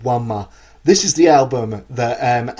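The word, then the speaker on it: Ænima: In at number 5, what is, for my money, the greatest prog metal album ever recorded, Wanma by Tool. Now, some of you may think it's pronounced Anima, but if you look at the way the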